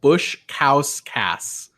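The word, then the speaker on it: Baskauskas: bow think there's the sh I think it's bowkus but T according to Survivor Wiki his last name is pronounced Bush cow Cass yeah not great this is this is when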